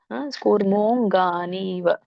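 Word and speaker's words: ಕೂರ್ಮೋಽಙ್ಗಾನೀವ: ಆಮೆಯ ಅಂಗಗಳು ಅಂತ ಸರ್ವಶಹ ಇಲ್ಲಿ ದೊಡ್ಡ ಕೂ ಇದೆ ಅಂದ್ರೆ ದೊಡ್ಡ ಉ ಇದೆ ದೊಡ್ಡ ಉ ಸ್ವರ ಕೂಡಿದೆ ಕೂ ಆಗುತ್ತೆ ಇಲ್ಲಿ ಮೋ ಇರೋದ್ರಿಂದ ದೀರ್ಘ ಇರೋದ್ರಿಂದ ನೀವು ಎಳಿಬೇಕು ಮೋ ಮತ್ತೆ ಅದಕ್ಕೆ ಅರ್ಕಾವಳಿ ಇದೆ ಹಾಗಾಗಿ ಮೊದಲು ರ ಉಚ್ಚಾರಣೆ ಮಾಡಬೇಕು ಮಕ್ಕಿಂತ ಮುಂಚೆ ರ ಹೇಳಬೇಕು ಕೂರ್ ಕೂರ್ ಮೋ ಮತ್ತೆ ಅಮಚಿಹೆ ಇದ ಅನುನಾಸಿಕ ಮೋಂಗ ಕೂರ್ಮೋಂಗಾನಿವ ಮತ್ತೆ ಅರ್ಕಾವಳಿ ಇರೋದ್ರಿಂದ ನೀವು ಅದನ್ನ ಅಂಗಾನಿ ಅಂತ ಸೆಪರೇಟ್ ಮಾಡಬಹುದು ಅಂಗಾನಿವ ಅಂತ ಹೇಳಿ ಕೂರ್ಮೋ ಕೂರ್ಮಹ ಅಂಗಾನಿವ ಅಂತ ಹೇಳಬಹುದು ಇಲ್ಲಅಂದ್ರೆ ಕೂಡಿಸು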